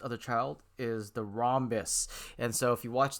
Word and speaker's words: rhombus: ha ha or rhombus the h is silent in most cases most countries so it's a rhombus um and the reason